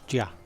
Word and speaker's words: Jia: But it's definitely not Jai. So, Jia.